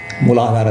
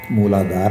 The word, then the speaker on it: ಮೂಲಾಧಾರ: ಮಹಾಪರಾಗಣ ಸರಿಯಾಗಿ ಉಚ್ಚಾರ ಮಾಡಬೇಕು ಕೆಲವರು ಮೂಲಾಧಾರ ಅಂತಾರೆ ಮೂಲಾಧಾರ ಅಲ್ಲ ಮೂಲಾಧಾರ ಮೂಲಾಧಾರ ಅಲ್ಪಪ್ರಾಣ ಮಹಾಪ್ರಾಣಗಳನ್ನು ನಾವು ಸರಿಯಾಗಿ